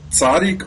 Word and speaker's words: tzaddik: It was titled "Tzaddik or Weasel." Right. Did I get that pronounced right?